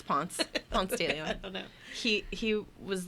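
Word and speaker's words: Ponce de León: Spanish explorer Juan Ponce de Leon. No, that's not how you say it. It's Ponce de Leon, because that's not French, it's Spanish.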